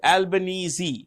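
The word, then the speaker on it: Albanese: can see here and um Anthony albanesi is albanesi that's how you pronounce it Anthony albanesi is a president sorry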